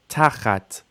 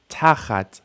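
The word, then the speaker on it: תחת: Tachat, initial stress. Tachat, under, beneath.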